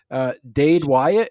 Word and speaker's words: Dade Wyatt: Also want to brush up a little bit on your mysteries books, your Dade Wyatt. Is that pronounce that right?